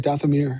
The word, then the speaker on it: Dathomir: I really want them to go to Dathomir. Did I say it right? Dathomir?